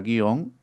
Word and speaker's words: guion: Entonces, el silabeo ortográfico correcto, la palabra guion es justamente una sola sílaba.